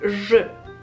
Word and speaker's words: ż: This one is also problematic in spelling because it sounds the same as RZ. Now, not everywhere, because in some dialects there is still a difference between those two, but in like a basic Polish, they are completely identical.